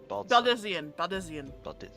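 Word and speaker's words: Baldesion: Baldezian. Okay. That's how they pronounce it with the voice actors in the game.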